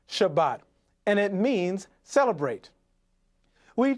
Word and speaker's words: Shabbat: spelled from right to left sheen bait thave pronounced shabbat and it means celebrate we told you that